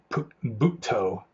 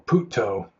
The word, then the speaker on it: Buddho: A lot of the Thai monks especially use Buddho, although the Thais, I think they pronounce it Butto or Putto.